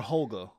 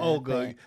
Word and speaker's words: Holga: Was it Olga or Holga? I think it's Olga. Olga. The H is silent.